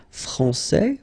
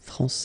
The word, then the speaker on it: France: we had previously with France and Fran because we don't pronounce the final s in France and it's exactly the